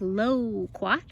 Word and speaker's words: loquat: garden this is a loquat tree loquats come from asia originally and they make a delicious fruit it kind of sounds like the word komo quat but it's low quack so we're gonna plant